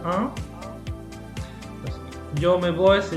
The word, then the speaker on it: en: Entonces, esto se pronuncia un.